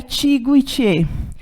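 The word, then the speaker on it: Ichigo ichie: que chama Ichigo Iti aliás se escreve e xiga ichê mas a pronúncia e Tiggo Itiê que a tradução literal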